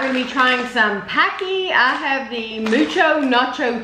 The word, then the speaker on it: Paqui: artificial ingredients it says bulb on nature where Pocky pronounced packaged and we do bold the natural way